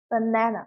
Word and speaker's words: banana: A가 무려 3번이나 있지만 강세는 여기 적용이 되기 때문에 우리가 생각했던 아 사운드가 있는 게 아니라 여기는 슈아 발음이 나는 거니까 으 사운드가 돼서 banana가 되는 거죠. banana. 그죠? 여기에 에 발음이 난다. 이렇게 이해하면 되는 거예요.